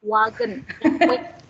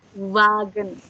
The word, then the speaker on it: Wagen: Ini kita nggak baca wagen lagi sekarang. Nggak wagen. Bisa ya. Tapi wagen. Wagen. Nggak ada V-nya.